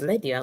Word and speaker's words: Lydia: that's a trick yeah ladies my name is Lydia like Lydia like the English lady those colleague